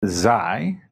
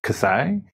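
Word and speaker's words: xi: v this one is depending on it's it's zai you know it's spelled with an x z sometimes people you'll hear people pronounce it as kasai um sometimes you'll see it's spelled.xsi but uh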